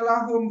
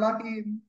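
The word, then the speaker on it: لهم: apa lahum lahum lahum Kenapa bacanya lahum bukan lahim karena sebelumnya tidak kasr gitu ya Iya bihim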